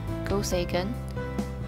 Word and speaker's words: Go Seigen: better known by the japanese pronunciation of his name go sagan was a chinese-born japanese